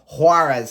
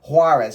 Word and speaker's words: Juárez: join Liga MX side huarez I believe that's how you pronounce it on an undisclosed fee